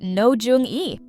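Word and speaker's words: Roh Jeong-eui: Based on a hit webtoon, this campus romance revolves around Bunny, a bright but clueless college student played by Ro Jong-ue, pronounced No Jung-e.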